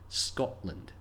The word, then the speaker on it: Scotland: T's when speaking quickly however we don't say Scotland there's a pause where the T would be Scotland the OL and L don't run together smoothly like in holiday there's a gap so